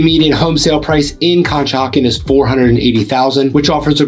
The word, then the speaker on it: Conshohocken: So the next town that I have to tell you about is Conshohocken, and yes, that's how you pronounce it, or Conchi for short.